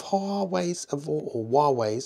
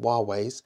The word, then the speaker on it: Huawei: The battery life of Huawei's, I realise now I've been saying it wrong, Huawei's has been really, really good.